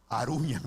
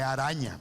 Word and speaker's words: arañan: dice, aclaramos, no se dice aruñan, es arañan, ¿ok?